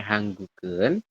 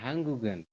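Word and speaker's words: 한국은: Nanti bacanya dia nyambung ya, Robun. Ya, jadi nyerempet lah. Jadi ini dibacanya adalah nyeret ya. Kalau bahasa Indonesia nyeret mungkin dibacanya nyeret. Jadi gioknya tuh nanti dibacanya ke sini. Ya, hanggugen. Kemudian hanggugi.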